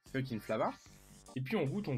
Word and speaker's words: Fcukin'Flava: la gamme fucking flava alors ça s'écrit pas pareil he ça s'écrit FCU CEN et plus loin flava mais ça se prononce fucking flava et puis on goûte